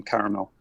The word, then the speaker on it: caramel: Thank you for pronouncing all the vowels in caramel.